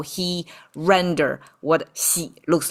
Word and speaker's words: 洗: 先 The whole thing pronounced 洗 It actually came from wash your feet.